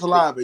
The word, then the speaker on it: Olave: Yeah, especially the one, especially the one for Chris Olave, if I'm pronouncing the name right. Yeah, that's right. You're right, Chris Olave.